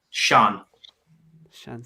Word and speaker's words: Sian: It's like a Sean.